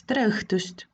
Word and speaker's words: tere õhtust: the former greeting is strelstust another special letter use the fake smile with open mouth uh dressed if you see a